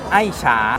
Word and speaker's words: Ai-Cha: ว่า อย่าง ไร ครับ ถ้า ตรง ๆ เลย ตาม ชื่อ จริง คือ ไอ้ ฉา ไอ้ ที่ แปล ว่า รัก ฉา ที่ แปล ว่า ชา รัก ใน การ ดื่ม ชา เป็น คอนเซป ของ เรา